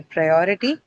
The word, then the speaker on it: priority: So on pri is your first syllable what follows it is or right that is the one or is the one which is going to get the uh stress the second syllable okay or rather the